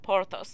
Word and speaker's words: Porthos: So it's Athos, and Porthos. Athos and Porthos.